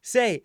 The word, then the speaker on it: sei: They, he, say. Say is spelled SEI.